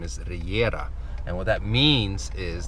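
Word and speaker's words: Regera: Anyhow, so I posted a picture on Instagram this morning of a uh Kigseg Reggera is what they call it in English.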